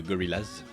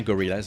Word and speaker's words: Gorillaz: fan, que j'aimais bien Gorillaz en fait. Et c'est la prononciation française, Gorillaz, ça passait pas.